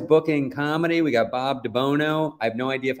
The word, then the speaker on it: DiBuono: my dad never said it right it's it's pronounced dubuono and my dad would introduce himself to people hey I'm Bob dabuno I'm like that you don't even know your